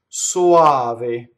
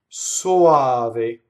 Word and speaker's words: soave: Soave. Soave.